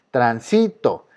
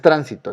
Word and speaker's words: transito: Transito, tran. Fíjense, transito, ¿dónde está la sílaba más fuerte? En este caso está en sí, porque no es tránsito, está en sí.